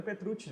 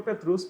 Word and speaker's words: Petrucci: A correta em italiano é Petrucci, né? Pois é, 2 Cs em italiano, Petrucci, né? Brasileirou o nome, né? Virou Petrucci, popularizou Petrucci.